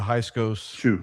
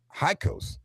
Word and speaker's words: Hyksos: I think a lot of the Hyksos people that were living as common folk were still following their god Baal.